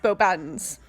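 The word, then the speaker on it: Beauxbatons: She also played the another giantess, the headmistress of, as it's pronounced in the movies, Bo Baddens.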